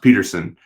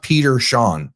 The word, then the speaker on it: Peterson: It feels more likely that uh I think it's pronounced Peterson even though it's No, it's not. It's pronounced Peter Shawn.